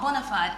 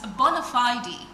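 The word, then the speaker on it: bona fide: um bonafide right bonafide it's not bonafide, it's bonafidey. So when you hear me say bonafidey, I am not forming for you and it has nothing to do with um not getting it right. It's just the correct pronunciation.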